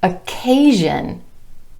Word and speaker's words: occasion: Also, occasion. Occasion. SION following the A vowel sound becomes Jin, occasion.